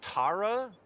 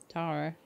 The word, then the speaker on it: Tara: Oh, do you ever think that maybe your name should be pronounced Tara? I mean, it's Irish, right? Yeah, well, that's how I've been pronouncing her name the whole time. Tara.